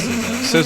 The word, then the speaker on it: SZA: No, it's SZA. SZA. Like scissor.